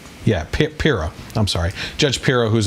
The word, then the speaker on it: Pirro: Pirro? Yeah, Pirro.